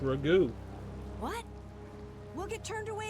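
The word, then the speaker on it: Ragou: I'm going to go see Magistrate Rego. It's pronounced Ragu.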